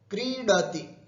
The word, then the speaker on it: क्रीडति: पठति, पठति, लिखति, क्रीडति, ये क्री दीर्घ है, तीरस्व है, क्रीडति, खेलता है ना, क्रीडति,